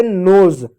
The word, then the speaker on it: nose: उसी प्रकार प्यारे बच्चों देखो, NOSE है, इसको पढ़ोगे नोज, नोज नहीं, ज नहीं ज, नोज।